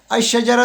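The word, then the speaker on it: الشجرة: शजर तो में अ शजर तो में अलिफ जो है वो बरा रास्त जाके शीन के साथ मिल रहा है लाम खामोश है अ शजर तो जबकि कम इसमें अल जो है लाम की आवाज निकल रही है अल किताबो तो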